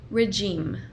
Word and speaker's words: regime: Y esta de aquí quiere decir régimen y se pronuncia así. Regime.